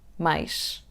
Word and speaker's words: más: Let's say once again all three words: "mas /mɐʃ/, más /maʃ/, mais /majʃ/ ". "but /mɐʃ/, more /maʃ/, more /majʃ/".